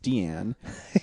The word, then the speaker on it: Diane: Um, the first one I watched was Fur, an imaginary tale of Deianne Arbus. Her name is spelled Diane, but it's pronounced Deianne.